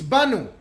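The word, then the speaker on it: באנו: see and they knew very much how to pronounce it it's not bad with an olive its Banu in us the word bond without a lot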